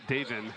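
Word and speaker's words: Davon: It's spelled D-A-V-O-N, but it's Davin.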